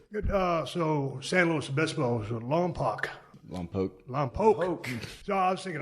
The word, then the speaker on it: Lompoc: No, I grew up in a small town called Lompoc, about an hour away from San Luis. I remember Obispo. Lompoc.